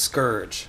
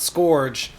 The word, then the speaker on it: Scourge: And remember, don't forget this one thing, it's pronounced Scourge, not Scourge, or people will get mad at you in the comments that you're saying it wrong.